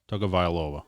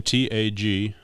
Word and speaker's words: Tagovailoa: Tagovailoa. Is it T-U-G or T-A? Last name Tagovailoa.